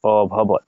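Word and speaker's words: অভবৎ: এজন্য সশব্দ স্তমূল ভবত অভবত অভবত এটা অরূপে উচ্চারণ করছি অভবত ঠিক আছে এর অর্থ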